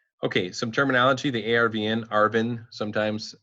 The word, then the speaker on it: ARVN: like hugely important okay some terminology the ARVN Arvin sometimes it's it's pronounced the army of the Republic of Vietnam